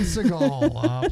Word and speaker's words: Seagal: five that's the right way to say steven seagal playing austin travis adore here already made above